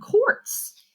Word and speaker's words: quartz: the bowl you found quartz julie was puzzled by quarts of milk quartz sounds like the word for quarts of milk or juice dad explained but your